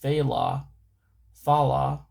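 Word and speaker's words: faoladh: It says in Irish mythology the phallad pronounced phthala thala refers to ancient often noble werewolves or wolf warriors.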